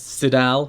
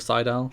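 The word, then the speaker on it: Sydal: up and Mike today pronounces it as sidel instead of Seidel Kazarian and Matt Seidel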